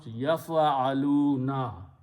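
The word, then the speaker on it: يفعلون: So first thing what we do, we just simply put the noon there, and it is pronounced yaf'aluna. Yaf'aluna means they do, or they are doing, or they will do.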